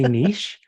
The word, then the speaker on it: niche: either one is correct if you're feeling sophisticated and you would like to use the French word because it just sounds nicer say niche but if you just want to use it the good old American Way say Niche and you're totally fine oh that's awesome thank